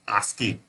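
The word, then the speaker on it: ASCII: code for information interchange pronounced as asking is widely using Alpha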